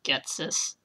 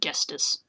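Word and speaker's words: Ghetsis: I'm looking at this now and it's spelled an entirely different way than I used to pronounce it. Getsis. I normally said Gestis.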